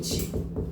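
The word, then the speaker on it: 쇠붙이: 쇠부 쇠부치 저 오타야 오타 그냥 5번도 5번도 정답이라고 생각하면 될 거 같아 쇠부티가 아니고 쇠부치죠?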